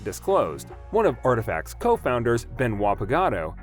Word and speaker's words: RTFKT: culture and gaming founded in january 2020 rftkt pronounced as artifact sells digital items like sneakers in the form of nfts while announcing the deal that month nike ceo john donahoe had called the acquisition of artifact as another step to serve athletes and creators